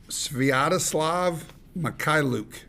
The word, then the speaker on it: Sviatoslav Mikhailuk: Maybe for the listeners, you could, in a little bit of slow motion, pronounce that for everybody. Okay. Sviatoslav Mikhailuk.